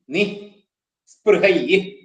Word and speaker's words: നിസ്പൃഹൈ: പിന്നെ നിസ്പൃഹൈ എന്നാണ്. നീ നി സ്പൃഹൈ നിസ്പൃഹൈ. നിസ്പൃഹൈ.